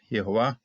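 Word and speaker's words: יהוה: We got a metech right here to tell us, keep that first syllable separate from the rest of it. Okay, sort of like a little chopping block right there. Yehovah, and Jehovah Anah, responded, testified.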